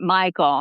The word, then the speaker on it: Mikell: They say the locals call it Michael. Okay. It's spelled Mikell.